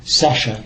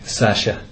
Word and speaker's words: Sciasia: I'll give you the correct, my pronunciation, Sasha. Sasha.